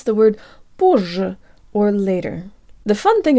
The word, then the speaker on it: позже: I'm and today I learn how to pronounce the word Borgia or later the fun thing about this word